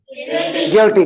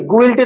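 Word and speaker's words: guilty: हाउ डू you pronounce it? गिल्टी. गुइल्टी तो कोई भी नहीं बोलते.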